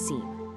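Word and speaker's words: SIEM: That's sim, and it's pronounced seam.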